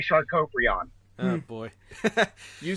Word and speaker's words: Sharkoprion: That is the correct pronunciation. I like to say Sharkoprion.